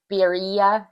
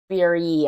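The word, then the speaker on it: birria: pronounce this I I I looked it up and I think it's beia it looks like b i r r i a the tacos they're like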